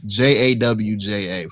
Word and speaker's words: Georgia: Never in my life have I ever pronounced it like that. I've always said Georgia. When I talk to northern people at home, I do say it like that. But when it's JAWJA for those who don't know.